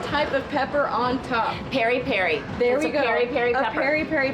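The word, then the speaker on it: peri-peri: sausage with some type of pepper on top Perry Perry there we go Perry pepper we had a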